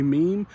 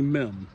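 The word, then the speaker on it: Meem: Russell noon now it's spelled m-e-e-m some people will say Meme here in Shenandoah County is generally men uh MIM is very well qualified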